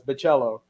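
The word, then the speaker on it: Bachalo: I even shared a video where the guy introduces himself as Baccello, but nobody paid attention. Chris Baccello introduces himself as Chris Baccello? As like you're saying cello, the instrument?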